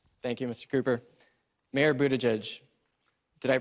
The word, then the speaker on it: Buttigieg: Mayor Buttigieg, did I pronounce it right?